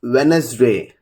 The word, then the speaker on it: Wednesday: First rule is the letter D is silent when it appears before the letters N and G. If you just look at the examples, Wednesday, cage, pledge, grudge.